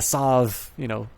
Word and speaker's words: salve: 2 casting is to call a healing salve, S-A-L-V-E, as a healing salve. But a salve, is something that you put on your wounds. It is pronounced salve, it is pronounced Aegis,